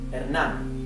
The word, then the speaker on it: Hernán: This has an accent here. Hernán. Okay, so the E, the H is mute, as I said before. The letter E is flat, E. The letter A is flat, A. Hernán. The N is typical N, and